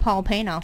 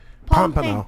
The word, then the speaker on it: Pompano: Hey, at least it's not Paul Pano. Oh, well, at least you... No, I still said it wrong. No. What? Pompano. I said Pompano.